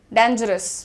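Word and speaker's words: dangerous: रही हूं मैं आजकल, डेंजरस ना बोल के डेंजरस बोलिए, डेन, डेन इज the pronunciation everyone, right. तो कैसे बोलेंगे, डेंजरस, डेंजरस, डेंजरस। अस को बहुत जेंटल करने पे, अस एकदम साफ करो, ज पे ध्यान दो।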